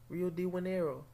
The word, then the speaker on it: Rio de Janeiro: Rio de Janeiro.